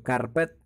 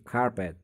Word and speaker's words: carpet: bahwasanya dalam bahasa Inggris pengucapan huruf R itu biasanya disamarkan. Huruf R itu disamarkan. Contoh ada carpet yang kalau kita baca itu carpet, tetapi dalam bahasa Inggris R-nya itu disamarkan sehingga menjadi carpet.